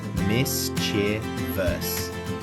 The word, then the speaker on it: mischievous: There is no extra E sound in there. Not mischievous, mis-chee-vee-us.